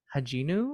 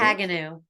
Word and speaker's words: Haganu: You mention the name of your spiritual guide, Haginu. Is that how you pronounce it? Haganu. Haganu, pardon me.